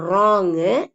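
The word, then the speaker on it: wrong: பவ் அப்படிங்கறத அழுத்தி சொல்லிக்கணும் இப்போ சைலெண்ட் டபள்யூ வேர்ட்ஸ் டபள்யூ வந்து இங்க உச்சரிக்க படாத வார்த்தைகள் ஓகே அப்ப எழுத்து டபள்யூ இருந்தாலும் நம்ம ரைட் ராங் ரிஸ்ட் அப்படின்னு எல்லாம் சொல்லக்கூடாது சொல்றது இல்ல இந்த டபள்யூ வந்து சைலெண்ட் ஆயிடும் அமைதியா இருக்கும் உச்சரிக்கப்படாது அப்ப எப்படி உச்சரிப்போம் வெறும் ஆர் ஐ D right R ஓ என் ஜி ராங் ஆர் ஐ ST wrist அப்படின்னு படிப்போம் அப்ப இந்த w வந்து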